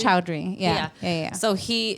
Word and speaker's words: Choudhury: It's Choudhury.